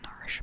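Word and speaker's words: Narshe: down our sheet worthy the proper way to say it is Marsh but I've always said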